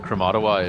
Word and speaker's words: Krematoa: Also, John, Kromatawa is Kromatawa takes quite a while actually. Really? Oh, Krematoa? Yeah. Yeah, okay. Kromatawa, however it's spelt or said, I should say.